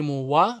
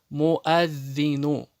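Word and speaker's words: مُؤَذِّنٌ: Не муа. Многие делают ошибку, читают муа. Нет, это ошибка. Уа не читается, хамза читается. Муаддину.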